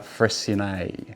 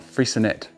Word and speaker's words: Freycinet: review of sapphire fres so it's not frinet it's FR uh named after a French explorer I believe uh I did double check that to make sure that's how you say it correctly because some people even locals were saying freet uh but no it's fre uh so sa by